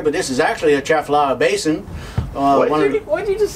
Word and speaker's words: Atchafalaya: And if you're local, you probably just eliminate the ah. You just say, I'm going to Atchafalaya Basin.